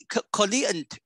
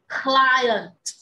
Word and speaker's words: client: Client. No. Client. A client. Yes, client. Client. Dạ, anh hai đừng có đọc là client. Anh hai chỉ đánh lên cái hơi gió là client.